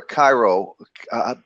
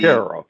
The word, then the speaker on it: Caro: Is it Caro or Cairo? It's Caro, like Caro syrup, yes.